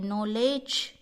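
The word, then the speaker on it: knowledge: नॉलेज। के थोड़ी बोलते हैं, नॉलेज पढ़ते हैं हम।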